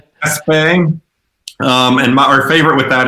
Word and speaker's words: Espe: We actually went all the way to Lars Gerasol to figure out how to correctly pronounce it. So he said Espe.